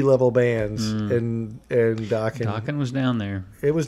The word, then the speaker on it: Dokken: This is coming from a guy who has Dokken on vinyl. Hell yeah. Rhymes with rocking.